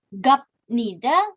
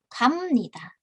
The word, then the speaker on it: 갑니다: Dibacanya bukan gapnida, tapi karena biepnya bertemu dengan nien, biepnya dilafalkan menjadi miem. Jadi 갑니다.